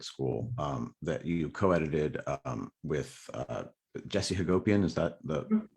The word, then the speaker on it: Hagopian: Now, we mentioned at the beginning of this book, Black Lives Matter at School, that you co-edited with Jesse Hagopian. Is that the right pronunciation?